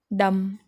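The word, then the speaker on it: dumb: तो यहाँ पर देखिए फ्रेंड, बी है लेकिन हम बी नहीं बोलेंगे. दिख रहा है लेकिन जब हम उच्चारण करेंगे तब हम उसको नहीं बोलेंगे. डम, गूंगा.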